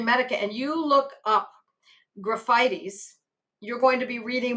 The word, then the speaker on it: Graphites: That looks like graphites. We pronounce it graphites, or at least I do.